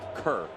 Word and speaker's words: Kerr: Let him know that it's pronounced Kerr, not care.